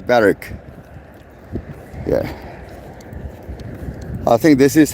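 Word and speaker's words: Berwick: day two we walk through Barrack um which is spelled b e r w i c k bck but no one says b week everyone says barck yeah I think this is how we distinguish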